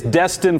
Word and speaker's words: Destin: Okay, and you both, and I did get it is Destin, Florida. Did I pronounce that correctly?